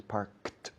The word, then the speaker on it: parked: Claro, se escribe worked, parked, con ed al final, pero la pronunciación es parked, de K una T, sin ninguna vocal en medio.